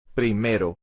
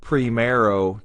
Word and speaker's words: primero: When we pronounce tercero and primero, pay attention to the R. It's not primero, tercero. That's again an English accent pronunciation of the R. We want to flap the R.